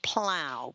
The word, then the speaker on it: Plough: And then they have Axe and Plow. Plow is spelled Plough, and it's more like a little bistro cafe, specialty coffees and soups and salads and that.